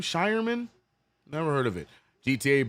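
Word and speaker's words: Scheierman: Shyman. I finally learned it. Shyman. That's how you say it. I thought it was Sherman.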